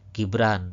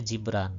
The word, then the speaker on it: Jibran: Gibran misalnya dibacanya Jibran, bukan gibran.